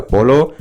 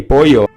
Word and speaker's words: pollo: in El Macho's restaurant, they kept calling the chicken a polo, which is Spanish for chicken, but like, that's just not how it's pronounced. It's supposed to be pollo.